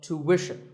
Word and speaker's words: tuition: British but after that it's not ition its mission tuition you have to put the what sound there so tuition word number 41 is